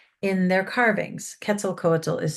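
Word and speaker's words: Quetzalcoatl: The Olme were also the first to depict Ketzel coatal in their carvings. Kettzel Cole is spelled q u e t z a l c o a t l and it's a nawatt word.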